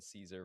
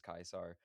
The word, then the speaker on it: Caesar: Kaisar would have been the ancient Latin pronunciation. So at the time that the real Julius Caesar lived, it would have been Julius Kaisar and that kind of evolved. The modern Latin version would be Caesar.